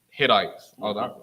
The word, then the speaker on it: Hittite: And I will send hornets before thee, which shall drive out the Hivites, and the Canaanites, and the Hittites.